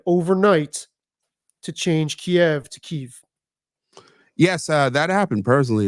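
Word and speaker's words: Kyiv: K because if I if I'm remembering the rationale correctly Kev is the Russian pronunciation God and keev is the Ukrainian pronunciation right is there that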